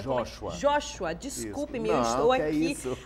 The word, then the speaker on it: Joshua: É Josué que fala? Joshua.